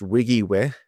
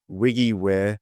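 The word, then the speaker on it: WYGIWYH: the application is trying to do it is pronounced Wiggy way if you were curious um you are not supposed to spell that out every time you use it so Wiggy way although when I look at it like phonetically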